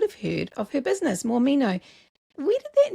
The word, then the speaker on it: Mormino: you start the business so Morino is actually my last name so more me know is the business name is my last name spelled out phonetically and that mostly started